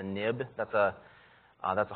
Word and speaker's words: xib: the view controller so this xib file is pronounced a nib that's a uh that's